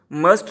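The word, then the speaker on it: mustn't: मे नॉट को मिंट, might not माइटेंट, मस्ट नॉट को मसंट, इसमें टी साइलेंट है फिर से, मसंट।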